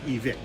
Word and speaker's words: Evike: equipamento da loja americana Evike ou Evike. Okay, Matt, how do you say it? Despite how it's spelled, it's pronounced EVIC.